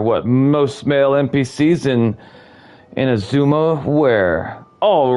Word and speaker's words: Inazuma: Inazuma. I gotta try to remember that's how that's pronounced, because I'll forget later.